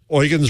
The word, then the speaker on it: Eugen: Is it Eugen the German way or Eugene? He said, Eugen's right, but I go by, I kind of give up and I take Eugene.